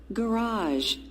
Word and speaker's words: garage: traffic traffic raj garage so here stress on part number two the sound is higher on the second part on